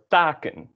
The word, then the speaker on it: taken: takken, which is branches, or taken, which is, here it is at the end of a syllable, the syllable ta, taken, and so it is tense, Same goes for all the other ones.